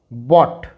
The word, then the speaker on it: bought: यहाँ पर GH silent है तो इसका प्रोनाउंसिएशन होगा बॉट, बॉट।